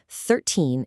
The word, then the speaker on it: thirteen: Thirteen is pronounced thir-teen, with that high stress right at the end.